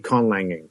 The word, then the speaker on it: conlanging: they list asir so con language is spelled is just so people c o n a l a n g okay Lang and then Ing conlanging and a conlanger or a